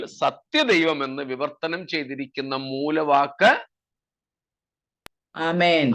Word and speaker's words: ആമേൻ: വൽക്കരിക്കാൻ ഒന്നും പോകണ്ട കേട്ടോ ഐ മീൻ എന്നൊന്നും പറയണ്ട ഇന്ന് നമുക്ക് ഇംഗ്ലീഷിൽ സ്റ്റൈൽ ഒക്കെ വന്നിട്ട് ഐമീൻ എന്നൊക്കെയാണ് പറയുന്നത് ആമീൻ എന്നാണ് ആ വാക്ക് എല്ലാ ഭാഷയിലും ആമീൻ എന്ന് തന്നെയാണ് അതുകൊണ്ട് നമ്മൾ അതിനെ ഇംഗ്ലീഷ്